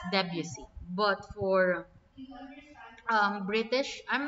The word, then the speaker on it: Debussy: Okay, so for the American pronunciation, it's Debussy.